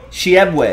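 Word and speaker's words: Oscar Tshiebwe: I think that T is silent. Shiebwe, I'm gonna go with Shiebwe.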